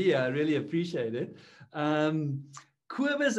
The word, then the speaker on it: Cobus: Cobus is how you would pronounce it.